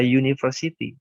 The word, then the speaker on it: university: Misalnya, ini dibaca university. Oleh sebab itu, meskipun huruf pertamanya ini adalah huruf hidup, tetapi pembacaannya itu menggunakan huruf mati terlihat.